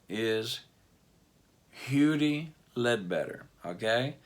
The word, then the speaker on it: Huddie: his real name is Hugh D better okay now it's spelled hoodie but they called him huger okay Hugh D Ledbetter